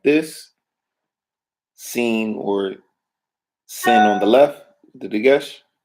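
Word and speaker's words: שׂין: Shin or sin, depending on where the dagesh is. If the dagesh is on the right stem, shin. If the dagesh is on the left stem, sin or seen.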